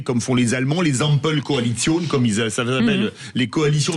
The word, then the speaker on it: Ampelkoalition: Vous savez, comme font les Allemands, les Ampelkoalition, comme ça s'appelle, les coalitions des feux tricolores. Ampelkoalition, jawohl, Frau de Minibus. Entre Minibus, enfin, je l'ai prononcé à l'allemande, excusez-moi, avec les Verts, le orange, les libéraux, le rouge, le SPD.